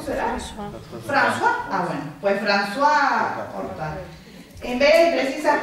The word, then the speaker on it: François: Yo ni inglés ni francés, así que ya sabrán cómo se pronuncia esto. Creo que es ¿cómo? ¿Francois en francés? ¿Cómo será? François. Ah, bueno, pues François Oltat.